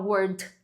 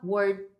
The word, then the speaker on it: word: A gente não fala word, a gente fala word, segurando esse D no final.